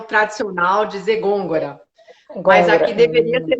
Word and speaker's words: Gongora: Como que pronuncia seu sobrenome? Gôngora.